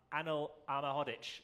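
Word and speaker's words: Anel Ahmedhodžić: the new signing over the summer center half annal alma hoddich which kevin gage reliably tells me is how you pronounce it are we with that kevin yeah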